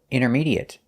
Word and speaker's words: intermediate: We notice that the T is silent. We don't say intermediate, we say intermediate. And the AT at the end is pronounced et. There's no 8 sound, it's short et, intermediate. And it's a stop T.